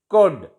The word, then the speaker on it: could: L is silent before D. Would, could, should, could. And L is silent before F.